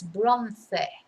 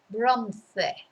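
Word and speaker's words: bronce: in english we say bronze because we don't pronounce every vowel but in spanish it's bronze bronze for bronze now the good thing as you'll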